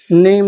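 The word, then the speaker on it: name: जैसे कि वर्ड के अंत में आया ई साइलेंट होता है। जैसे bike, bike miss bike, type miss प्रकार, नेम मिस नाम, साइन मिस चमक, चेंज मिस परिवर्तन।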